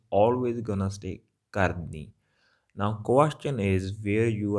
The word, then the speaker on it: kardi: All right, it's nasal sound at the end, kardi.